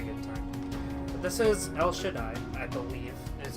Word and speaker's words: El Shaddai: But this is El Shaddai, I believe, is how you would pronounce it. Yep. It looks like Cell Shaddai. It's not. It's El Shaddai.